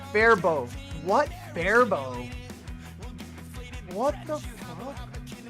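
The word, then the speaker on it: Faribault: Fairbolt or Fairbolt is wrong. It's Fairbow.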